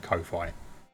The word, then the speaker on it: Ko-fi: I've always said Ko-fi. I think because I look at it as, yeah, Ko-fi should be instant. Yeah. I think I see the word as hi-fi, but with ko. So I read it as Ko-fi. But I think it's supposed to be coffee because you're buying someone a coffee.